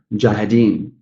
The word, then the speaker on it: mujahideen: And then the fourth syllable, mujahideen. Mujahideen. So this is a bit